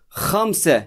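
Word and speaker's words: خمسة: o şeklindeki bir karakter bunu da Hamse şeklinde okuyoruz hamsi bakın gayet kolay hamsi gelelim 6'ya 6'da arkadaşlar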